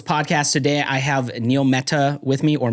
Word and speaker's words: Mehta: Today I have Neil Mehta with me, or Mehta. Yeah. Yes. Yeah. Spelled with an HT, but pronounced with a th.